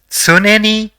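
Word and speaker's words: つねに: The first character in the word is tsu, the second is ne, and the third is ni. So, it will be pronounced as tsuneni, which means always or constantly.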